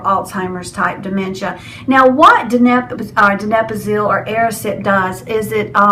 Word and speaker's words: donepezil: I say it wrong every time. I want to put the P in the wrong place. Donepezil or donepezil. No, it's donepezil.